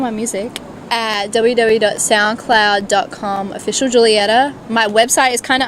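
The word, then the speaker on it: Giulietta: is spelled g-i-u-l-i-e-t-a and it's an italian there's no um j in there alphabet so the g i stands for the j so just think like romeo and juliet but julietta and yeah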